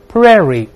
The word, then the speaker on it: prairie: 我们再读一下。Prairie，这个不规则，ai 在一